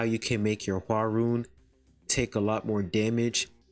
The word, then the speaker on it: Hwaryun: So the way you say your name is basically Hwa and then. So you put that together as HWARYUN.